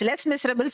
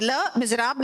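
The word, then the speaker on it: Les Misérables: Les Miserables, we usually pronounce it as Les Miserables. It is not so. It is Le Miserable, that is the miserable.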